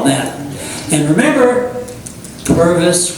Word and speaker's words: Purvis: And remember, Purvis rhymes with Congress.